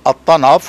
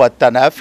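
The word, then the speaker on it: At-Tanf: le poste- frontière de attanaf ou attanaf les deux prononciations existent c'est en fait un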